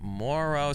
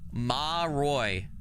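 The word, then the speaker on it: Moroi: So, uh okay, Morrow. So, it's Romanian folklore pronunciation. Can we get a pronunciation for that? Maroy. Maroy is how you say it.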